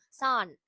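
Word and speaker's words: さん: அது ப்ரொனவுன்ஸ் பண்ணும்போது இன்னு தான் பண்ணணும். சான். ஸோ இதோட டோட்டல் ப்ரொனன்சியேஷன் வந்து சான்.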